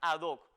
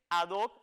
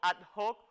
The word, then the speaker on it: ad hoc: pantalla la locución latina adoc que significa literalmente para esto como escuchó dije adoc y no ad hoc como a veces de manera indebida se pronuncia en determinados ámbitos vean aquí que la